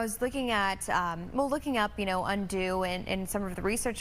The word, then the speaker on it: Undux: The release of Undo, but it's spelled U-N-D-U-X.